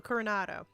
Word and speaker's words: Coronado: Coronado.